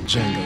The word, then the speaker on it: Django: Django. Oh, Chico, you're not green. Let me show you. The D is silent.